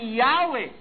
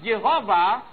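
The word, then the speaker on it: Yahweh: is in page 23 I read while inclining to view the pronunciation Yahwe as the more correct way we have retained the form Jehovah because of people's familiarity with it since the 14th century.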